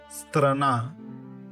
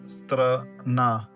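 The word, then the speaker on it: страна: Strana. Strana. Stress is on the second syllable. Strana.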